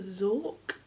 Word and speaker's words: Xorq: I assume that's a Zork. Because it's XORQ. Mrs. Zork.